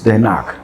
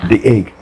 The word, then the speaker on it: Den Haag: The administrative capital is Den Haag. Den Haag. The Hague. The Hague. The Hague. Okay. Den Haag is a Dutch pronunciation, but the Hague is the English pronunciation.